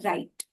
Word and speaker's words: write: राइट, WRITE, इसमें W silent हो जाता है और हम बोलते हैं राइट।